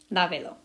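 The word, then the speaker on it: lávelo: And in order for the emphasis to stay here, we got to put an accent on there, lavelo.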